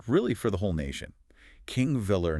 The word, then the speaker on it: Þingvellir: So, let's start at the beginning, both on the route and really for the whole nation, King Villa National Park, and that's pronounced thing Vetler.